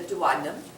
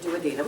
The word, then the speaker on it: duodenum: The first portion of the small intestine is known as the duodenum, or you may pronounce it duodenum, as long as you spell it correctly.